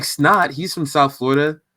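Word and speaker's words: $NOT: uh i really like snot he's from south florida it's spelled like dollar sign n.o.t it's not um he has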